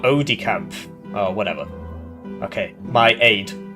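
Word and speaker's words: aide-de-camp: Aid is pronounced like ed. Ed decamp. Is it not odicamp?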